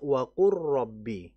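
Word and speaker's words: وَقُل رَّبِّ: Pada fi'il waqul rabbi tapi dari sisi bacaan harus dibaca waqu rabbi.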